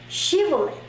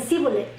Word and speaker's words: Shibboleth: Shibolet. So, cuando ellos les decían pronuncia esta palabra, y ellos, todos los de Efraín, no podían pronunciar la Shibolet, decían Sibolet, y eso los delataba ante